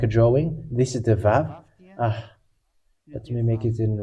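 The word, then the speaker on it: וו: This is the Vav. Let me make it in red. This is the Vav. It is called Vav. It is pronounced as V, and this is how we write it in Hebrew.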